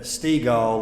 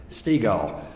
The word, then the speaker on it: Stiegel: I don't forget it because Dad said Stiegel like beach ball. So that's, if you get confused, that's how you pronounce Stiegel.